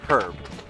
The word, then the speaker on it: herb: But not like herb. No, herb's got an H at the beginning, so you pronounce it.